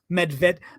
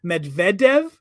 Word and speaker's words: Medvedev: stuggle's about to disappear MedVet Medvedev okay but I'm speaking English Medvedev I'm not going to